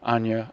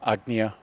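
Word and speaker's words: Ajna: we move up to Anya, Agnya, depending on what region in India, Niyatakoryoto, or how particular you want to be according to the Vedas on how to pronounce it.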